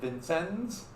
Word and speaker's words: Vincennes: the British fort at Vincennes. I know I'm mispronouncing it, but that's, if you're from Indiana, that's how you would pronounce it, Vincennes, even though it's French.